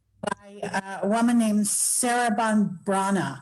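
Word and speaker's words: Breathnach: a woman named Sarah Brana. I used to say breathnatch all the time until I realized it was a Welsh name, and the pronunciation was in her second book.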